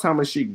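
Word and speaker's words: Tamasheq: I said, nah, it's pronounced Tamashik, bro.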